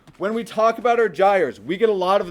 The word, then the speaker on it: gyre: This is a gyre, not a gyre. This is a gyre. Okay, when we talk about our gyres, we get a lot of them on our planet.